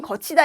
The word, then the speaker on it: 걷히다: " 겉히다 " 는 제 가 혼동 을 방지 하기 위해 편의상 "geothida" 라고 발음 했지만 , 원래 발음 은 " 걷히다 "(geothida) 입니다 .